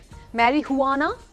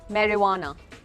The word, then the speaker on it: marijuana: मैरिजुआना तो नहीं बोलते, मैरीहुआना नहीं बोलते, मैरिवाना। It's called marijuana. मतलब बोलते ही लगता है हमने कितनी बड़ी चीज़ बोली है ना। हाँ, सो मैरीहुआना नहीं, मैरीवाना।